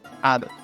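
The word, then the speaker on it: hado: Y en cambio, el español, Antonio, ya sabes que esa F evolucionó a una H muda y de fatum tenemos en portugués fado, pero en español ado.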